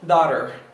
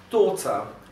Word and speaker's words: daughter: No inglês americano, esse T vai adotar uma forma, uma sonoridade de um R, e você vai ouvir isso como daughter, my daughter, I love my daughter. Enquanto que no britânico, esse T vai ser pronunciado literalmente como um T, e esse R final não vai ser pronunciado, vai ser pronunciado de forma muito fraca.